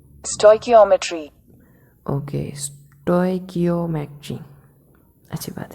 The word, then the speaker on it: stoichiometry: Okay, तो यार इसका प्रोनाउंसिएशन, ओह सॉरी, ये इसका प्रोनाउंसिएशन देखते हैं क्या है। Stoichiometry। ओके, स्टोइकियोमेट्री, अच्छी बात है, स्टोइकियोमेट्री।